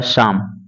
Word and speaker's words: psalm: इसी तरह से PSALM, यानी कि पी साइलेंट कर देंगे तो हो जाएगा शाम।